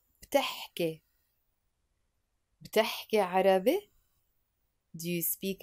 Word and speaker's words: بتحكي: But we pronounce it بتحكي.